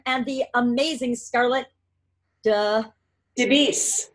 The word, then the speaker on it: DeBease: the amazing scarlet duh de beasts beasts it's just like it's spelled but I'm not great